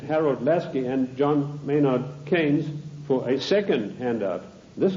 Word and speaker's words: Keynes: or keynes he said keynes was a better word because it arrived with it rhymes with brains and this is the